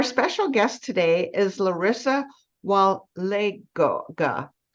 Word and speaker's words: Walega: Cowa so our special guest today is Larissa Wale Gaga pronounce it for me again Larissa Clarissa walega it